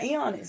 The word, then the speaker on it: Ioannis: Since you took Nick James Pizza, I'll say, how do you pronounce it? Ioannis? Oh, yeah, Ioannis, yeah.